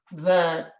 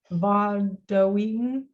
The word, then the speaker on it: vatawi'm: So va, like it's Va. that the U is always a sound like the U in bug. Vatawi'm. Vadawi'm.